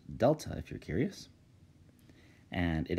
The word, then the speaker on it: Delta: well the triangles actually a Greek symbol it's pronounced Delta if you're curious and it actually represents the